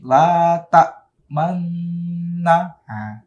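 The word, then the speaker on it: تأمنّا: Nah, ada isyarat mencucu, ada isyarat dumahnya. Kalau kata aslinya itu la ta'manuna, ya, ada nun dumahnya. tapi dia diismamkan jadi la ta'manna. Ada ketika menyebut man itu ada isyarat dhammah atau isyarat mencucu.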